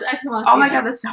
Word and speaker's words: Ex Machina: Is that how you pronounce it? No, it's Ex Machina.